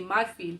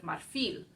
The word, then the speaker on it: marfil: going to mess up I have a tendency to say my field instead of marfil which is the word for Ivory it ends in an L so I should be pronounced I should be putting the stress on the last syllable marfi ah mistake here